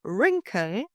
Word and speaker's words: wrinkle: Or wrinkle, pronounced wrinkle, not wrinkle.